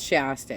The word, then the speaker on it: Shasta: It's like Shasta or like it's Shasta. It's like the cola, right?